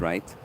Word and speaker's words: rätt: Rätt, the way you spelled it, it's pronounced right.